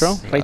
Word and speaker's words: Retro: Okay, That's, retro. For me, it's the nicest plane ever. The It's a retro plane is incredible. You gotta say it like a German. Retro.